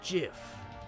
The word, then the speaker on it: GIF: the truth it's pronounced jiff gif dot jiff like the peanut butter the creators would you